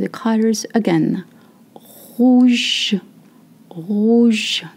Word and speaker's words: rouge: Rouge, rouge, not rouge, okay?